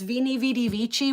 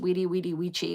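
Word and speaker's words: veni, vidi, vici: It says vini vidy vichi which is actually pronounced wedi wedi which I don't know the v sounds I like it better with the v sound.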